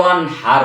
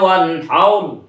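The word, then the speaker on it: وَانْحَرْ: এই সূরা কাউসারে তিনটা আয়াতের শেষের তিনটা র, অনেকে রগুলি মোটা করতে পারে না। ইন্না আ'তাইনাকাল কাউসার কয়, সার স্কুলের সার। ফাসাল্লি লিরাব্বিকা ওয়ানহার বলে ফেলে। এটা কি গলার হার নাকি? বলতে হবে ফাসাল্লি লিরাব্বিকা ওয়ানহার।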